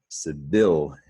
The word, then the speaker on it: civilians: In red is the stressed syllable. Civilians, civilians. It's a 3-syllable word. You hear that Y in civilian. So again, you want to remember this IAN suffix.